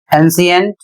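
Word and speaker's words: ancient: अगला नियम है जब सी के बाद आई ए आई ई या आई ओ जैसे स्वर एक साथ आते हैं तब सी का उच्चारण श हो जाता है।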